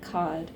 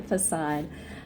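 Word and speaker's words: façade: polite charming and neat beneath the fod um I think it's pronounced facad facade beneath the facade uh she is a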